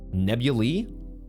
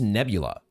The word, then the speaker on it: nebula: clouds of the nebula how is that pronounced nebuli let's look this up real quick nebula oh it's just nebula we would fly through